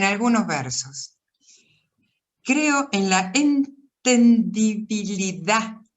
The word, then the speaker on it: entendibilidad: Creo en la entendibilidad, así, con acento en la A, en la entendibilidad final de todas las cosas y en la de la poesía, por consiguiente.